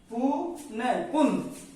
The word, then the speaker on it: पुनः: जैसे एक शब्द है पुन, लेकिन जो ही विसर्ग लगेंगे तो इसका उच्चारण हो जाएगा पुनः।